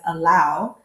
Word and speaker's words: helado: So for example, the word for ice cream is helado, but people pronounce it as allow.